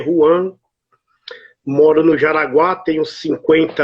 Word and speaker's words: Juan: Se escreve Juan, se lê Juan.